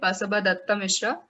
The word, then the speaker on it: Basaba Dutta Mishra: I'm Anisha Brahma, the founder and editor of Buzz, and today we have with us poet Basaba Datta Mishra, who recently launched his book of poetry, Agaz.